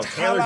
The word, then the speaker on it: Talor: Somewhere in some guy in that range, though, Jeff, that I like is Talor Gooch, I believe is how you pronounce his name. No, Taylor Gooch.